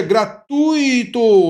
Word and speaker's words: gratuito: A gente pronuncia gratuito, é uma palavra paroxítona, OK?